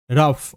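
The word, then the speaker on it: rough: odd sound odd বাট এখানে ও Yuji H O Yuji H হবে কিন্তু আফ ওকে শব্দ যেমন রাফ আরতে র ও ইউজি এইচ আফ র আফ রাফ তাই না আরতে র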